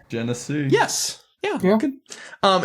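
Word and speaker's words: Genesee: It's like Tennessee with a G. Jennese.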